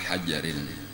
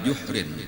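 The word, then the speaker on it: جُحْر: Kemudian, hal kedua yang dilihat oleh Nabi kita adalah, "wa-ata' ala hajarin," tidak, itu salah, "wa-ata 'ala juhrin." Anda membacanya dengan 'jim' di depan, yang berarti lubang.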